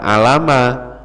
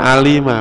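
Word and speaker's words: عَلِمَ: Berarti kalau ada kalimat alima, ain, lam sama mim, jangan dibaca alama, karena sudah mengikuti pola fa'ila. Jadi contohnya misalnya gini, Pak. Nah, misalnya saya nulis, ini bacanya apa? Fi'il madhi. Harus dibaca alima, Pak.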